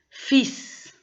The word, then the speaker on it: fils: Fils, on ne prononce pas le L.